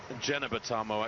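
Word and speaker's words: Jeneba: Tomo of the USA J and it is pronounce jbao actually not Gena or Gena but the Americans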